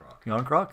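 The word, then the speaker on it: Järnkrok: Cal Jarnkrok? Jarnkrok? Yarncroc? How do you say it? Yarncroc. There you go, Thomas.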